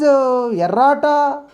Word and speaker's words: errata: We should not pronounce double letters, only single letter.